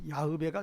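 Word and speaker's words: 야훼: 뭐 여호와라는 뭐 그 발음은 앉는게 좋다 그랬죠. 그래서 야베가 좋다 그랬죠.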